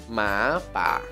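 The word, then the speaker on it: หมาป่า: Sampingnya ada opla sara a ya, terus habis itu mai ek, jadinya pa, pa. Jadi ya ma pa, ma pa, ma pa.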